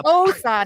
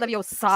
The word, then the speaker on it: Leviosa: Leviosa, not Leviosa.